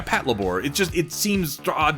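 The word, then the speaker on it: Patlabor: good what you call weird is the corect correct pronunciation yeah Pat labore it just it seems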